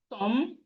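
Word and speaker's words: tomb: We have Tom, the B in Tom is silent.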